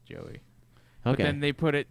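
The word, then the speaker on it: Jowy: name is j-o-u-i it's they pronounce it joey okay and they put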